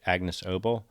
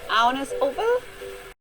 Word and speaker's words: Agnes Obel: I say Agnes Obel. That's not how to pronounce her name at all. It's pronounced like this. My name is Agnes Obel.